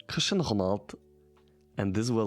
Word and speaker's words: Cristiano Ronaldo: Um, I saw the video and I think this is pretty interesting in terms of pronunciation because um, in Germany I said my whole life Cristiano Ronaldo and also in English you say Cristiano Ronaldo.